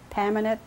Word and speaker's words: Pamanet: Okay, my name is Pamanet. My maiden name is. It's spelled P-A-M-A-N-E-T.